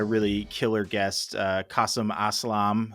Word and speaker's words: Aslam: We've got a really killer guest, Kasim Aslam. Name rhymes, first of all, Tim. It just rhymes with awesome, because he is.